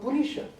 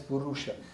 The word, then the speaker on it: Purisha: But don't call Purisha as Purusha. See, different. Purusha is higher consciousness. That's why in Sanskrit, if you slightly change the pronunciation, it will change the entire meaning. Then Purusha will become Purisha. So Purusha and Purisha, very subtle.